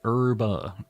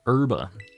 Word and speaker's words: Herba: probably is what's your uh in Spanish it's herba urba which is how I'm saying it um the